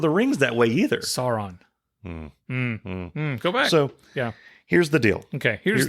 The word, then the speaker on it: Sauron: stop saying it Sauron it's not a sauerkraut it's Sauron it's not it's not how you pronounce I don't care they didn't pronounce it in Lord of the Rings that way either Sauron go back so yeah